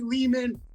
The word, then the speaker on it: Lehman: Co MC G Mari Leman rhymes with demon the first Jason vores